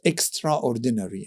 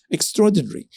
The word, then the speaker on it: extraordinary: for example the word uh I used to pronounce extraordinary and then I found that this my my pronunciation was incorrect it's not extraordinary it's extraordinary so I took a phonetic course and I